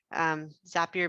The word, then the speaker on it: Zapier: to get back to zapier zapier makes you happier which is why how i remember how to pronounce it this is a great